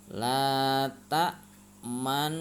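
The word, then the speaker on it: لا تأمنا: Itu cara membacanya harus dibaca ismam, yaitu mencampurkan domah dan sukun dengan memoncongkan bibir. La ta'manna.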